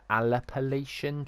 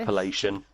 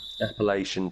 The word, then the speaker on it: Appalachian: going to mispronounce it the aleppoletian trail have you heard of that appalachian that one appalachian trail in america down